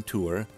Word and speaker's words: tour: part of the state one interesting aspect of the tor pronunciation is that it appears to serve as a kind of in-group marker so check out this graph members of the church of jesus christ of latter-day saints use tor more often than tour while those utahns who are not members are slightly more likely to say tour i don't have